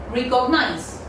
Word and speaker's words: recognize: I've seen there are a lot of people who kind of pronounce it as recognize. Recognize. Now what is recognize? There is no such word like recognize. The correct pronunciation goes in this way. Recognize. Recognize. Just pronounce after me.